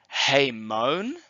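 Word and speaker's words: ἡμῶν: attention to and so we're going to pronounce it with an H in front and we translate that as we the genitive plural is hey Mon translated our the dates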